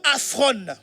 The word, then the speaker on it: aphron: Le mot inconsidéré ici, qui a été utilisé en grec, c'est le mot aphron. Ça s'écrit A-P-H-R-O-N.